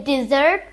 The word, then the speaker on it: dessert: Did you say dessert or did you say desert? The spelling is similar but the meaning is different. In desert we stress the first syllable and in dessert we stress the last syllable.